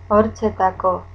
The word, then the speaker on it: hortzetako: Hortzetako. Escuilla. Hortzetako. Escuilla. Hortzetako. Escuilla. Hortzetako. Escuilla. The H is not pronounced again.